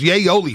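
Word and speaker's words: Yayoli: this is it says yay yoli folks yay only garlic sauce people are telling me how to say it says yay as in yay area like yay area yeah there you go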